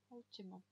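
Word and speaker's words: última: Ультима. На у ударение.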